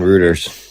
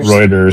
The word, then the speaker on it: Reuters: I found an article on routers. How do you pronounce it? Routers. Rooters. Whatever. Reuters.